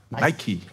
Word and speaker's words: Nike: "Neiki"? - "Neiki". - "Niik". Also die schöne Siegesgöttin heisst Nike. Der hässliche Verliererturnschuh wird "Neik" ausgesprochen. "Niik" - man sagt auch "Schtiik".